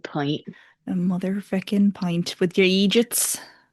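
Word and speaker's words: eejit: And it's spelled E E J I T, but it's literally just idiot in an Irish accent, but it's like treated like a whole other word.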